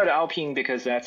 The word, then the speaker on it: Alpine: I call it Alpine because that's how the F1 team is called. Some people call it Alpine. I think the French pronunciation is Alpine, like Vite.